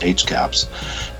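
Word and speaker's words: HCAHPS: It began in October of 2018 when VA first reported its hospital CAPS, or pronounced HCAPS, data on CMS Care Compare, but the comparison was not very favorable.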